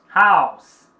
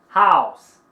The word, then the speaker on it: house: House. Ok? House. Não pronuncia o som da letra E.